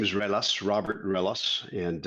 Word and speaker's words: Ruelas: eric this is again my last name is relas robert ellis and it's a pleasure to be